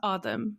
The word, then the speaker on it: Adam: the name Adam, so in Arabic it is pronounced Adam. So if you're like a Pakistani person, for example, or an Arab person, and if your name on paper looks like Adam, it's most likely pronounced at home as Adam.